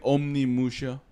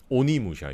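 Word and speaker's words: Onimusha: Yo, has anybody played Omni Musha? Oni Musha, you mean? On Musha? That's the Japanese pronunciation. I was doing the American version.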